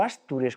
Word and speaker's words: Astures: El territorio de los Astures o Astures, como parece ser que se debía pronunciar, en época de Pelayo.